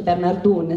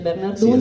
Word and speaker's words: Bernardon: Che poi si dice Bernardun, si scrive Bernardon ma si legge Bernardun, sì, esatto.